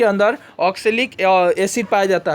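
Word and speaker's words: oxalic: टमाटर के अंदर ऑक्जेलेरिक अम्ल होता है, ऑक्सैलिक अम्ल होता है, ऑक्सैलिक प्रोनाउंसिएशन थोड़ी रॉन्ग हो गया, सॉरी बच्चे, ऑक्सैलिक एसिड रहता है।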